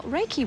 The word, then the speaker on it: Reiki: Just explain to us then how Reiki works. I pronounced it right, did I?